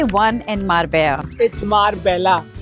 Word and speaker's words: Marbella: लेकिन यहां पे मारबे मार्बेला एयरपोर्ट पे दो लोगों ने मुझे करेक्ट कर दिया। इट्स नॉट मारबेला इट्स मारबेया।